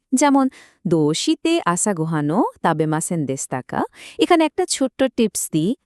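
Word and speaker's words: でした: দোষিতে আসা গোহানো তাবেমাসেন দেসতাকা এখানে একটা ছোট্ট টিপস দিই দেশিতা না বলে দেসতা উচ্চারণ করাটা কিন্তু অনেক বেশি ন্যাচারাল শোনায় আর হ্যাঁ এই প্রশ্নের উত্তরে বাক্যের শেষে অবশ্যই কারা যুক্ত করতে হবে।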